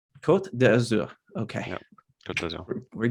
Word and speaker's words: Côte d'Azur: Côte d'Azur, is Yeah. that correct? It's the Côte blue d'Azur. Yeah. coast. Okay, thank you. How do you pronounce it? Côte d'Azur. Côte d'Azur.